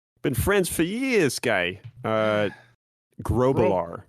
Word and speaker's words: Grublar: Grobalar. Grow. That's right. It's a growth. Obalar. Yes, like a growth. Like a growth on the back of my neck.